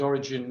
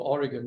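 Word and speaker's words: Origen: later thank you absolutely whether you pronounce it origin or Oregon doesn't really matter um I I would think uh but he had a lot of Greek Roots it's probably Oregon but it doesn't always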